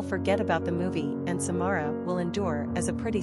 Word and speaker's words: Samara: Pronunciation, Samara.